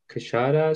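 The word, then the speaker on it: क्षर: So this kshara, just make it like a 1 syllable. It's kind of like a kshara. It's like not even a 2 syllable. It's kind of like you're stopping and then you're just saying it, letting it out.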